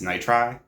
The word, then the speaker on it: Nitri: can pronounce it and it sounds identical to nice try it's nitri so it's like nice try without the c basically and i thought